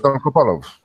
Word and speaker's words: Dolgopolov: But I'm never good at his pronunciations. Alex will correct me, but Dolgopolov will. has beaten him Alexander twice. Dolgopolov.